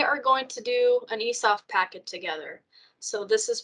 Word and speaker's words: eSOPH: be right here and it's going to say esoft. The correct way to say it is eSOPH so there's your first little tip.